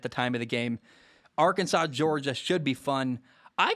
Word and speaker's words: Arkansas: It's number 8, Arkansas. At number 2, Georgia. 2 undefeated teams. Last week, Arkansas beat Texas A&M, who is the number 7 team in the nation at the time of the game. Arkansas, Georgia should be fun.